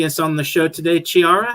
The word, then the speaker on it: Chiara: they pronounce my name, they think of the CH as a ch sound. But okay. I am from an Italian background, so it's a K sound. It's Chiara. Chiara.